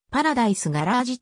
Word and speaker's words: パラダイス・ガレージ: 客層であった黒人余りではパラダイス garage と発音するありがとうございます